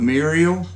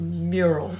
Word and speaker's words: mural: yeah it's a mural the muriel it's a mural two syllables mural nope two syllables mural